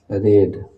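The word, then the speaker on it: read: cut cuts फेरीड का रेड spelling same ही रहेगा लेकिन हम लोग इसको पढ़ते हैं रेड रीड रेड रेड और वी फोर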